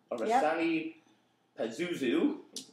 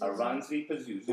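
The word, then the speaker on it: Oranssi Pazuzu: Orasani Pazuzu. And how do you pronounce it? Oransi Pazuzu. Oransi Pazuzu.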